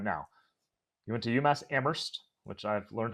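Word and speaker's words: Amherst: you're doing right now you went to UMass ammer which I've learned how to pronounce correctly from my time in New England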